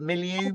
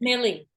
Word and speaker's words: Milei: visits that Javier Milei, how do you pronounce it? Milieu? I think it's Millie, but yes.